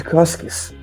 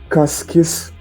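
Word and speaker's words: Cascaes: Após vários eventos, o Marquês de Casques se escreve C-A-S-C-A-E-S, Casques, mandou para São Paulo, um documento de compra e venda referente às terras de Santo Amaro e Santa Ana.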